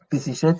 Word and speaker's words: Peseshet: qui est là, euh on peut on peut mettre les voyelles qu'on veut pour la prononciation. Et souvent euh euh dans les sociétés dans la langue indo-européenne, on met souvent des e pour pouvoir prononcer facilement les noms.